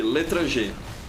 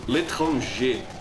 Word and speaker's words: L'Étranger: I would place in second position, on the second spot, the l'étranger, or l'étranger in the French pronunciation. Or like TF2bers from the US say it.